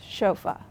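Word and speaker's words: chauffeur: from so for example chaua chaua is borrowed from the French language and it is spelled c h Au U FF R but it's pronounced chofa we're also always using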